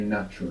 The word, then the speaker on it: natural: A is like ah, U is like U. Natural. Very good. And the accent on the end as well.